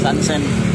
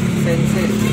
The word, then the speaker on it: SAN SEIN: Apa bang bacanya bang? Sansen. Sansen.